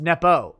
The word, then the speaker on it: Nepu: Nepu is pronounced Nepo.